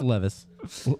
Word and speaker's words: Levis: Well, I I said Levitz. So I said Levitz. It's Levis. Oof. Oops. Sorry, buddy. No T.